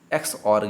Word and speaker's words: XOR: यहाँ पर ई साइलेंट है, इसलिए इसे एक्स और गेट कहते हैं।